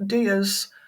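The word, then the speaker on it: diyas: In Hinduism, Diwali is a celebration of light and uses candles called DAS, which is spelled D I Y A S, as the main theme.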